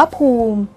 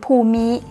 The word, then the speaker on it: ภูมิ: ทุก์ ละเอียด ค่ะ ภูมิ อ่าน ว่า ภูมิ หรือ ภูมิ แปล ได้ หลาย ใน